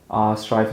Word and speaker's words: Stryve: Stryve is spelled STRYVE, so Strive with a Y.